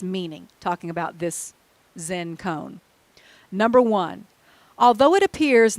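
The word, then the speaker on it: koan: meaning of this saying or cone as it's called if you've never heard that it's spelled k-o-a-n by a man named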